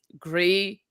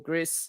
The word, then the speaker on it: Gris: Gree or Gris, however you want to pronounce it, is also another